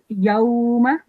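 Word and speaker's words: يَوْمَ: Just one thing is that meme is carrying fatha on top, so we only have to prolong it for 1 second. Yawma. Okay. And how we pronounce a haruf al-leen is like this: yawma, softly. Okay. Yawma. Low. Low. Right. How did you pronounce this? Low. Excellent. Well done. And how long? What's the rule for haruf al-leen? How long do you have to prolong it for? We have to pronounce it softly, and if we have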